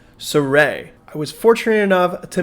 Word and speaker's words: Sirui: this array TL 400 and yes it is actually pronounced sarey I was fortunate enough